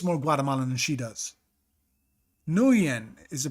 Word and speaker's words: Nguyen: Nguyen is the pronunciation.